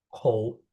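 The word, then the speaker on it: 口: Kotak ini apa bacanya? Kou.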